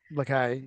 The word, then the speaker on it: Lacaille: Lacaille, yeah.